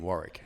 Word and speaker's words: Warwick: for 35 years and no one in America knows you don't pronounce the second W in Warrick.